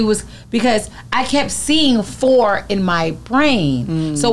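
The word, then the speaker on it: Phor: Okay, so his name is Four from Black Ink Crew. Okay. Foreplay. Four. P-H-O-R, right?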